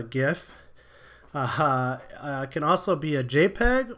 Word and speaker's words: GIF: dot, and then can either be a GIF, or if you're on the wrong way of pronouncing things, a GIF.